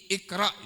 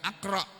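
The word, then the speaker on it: اقرأ: Iqra itu bacanya bukan aqra, bukan uqra, bukan.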